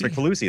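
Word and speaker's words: Kricfalusi: Crick Fallacy. Crick Falusi. Crick Falusi? Crick Falusi. That's how you say it, actually.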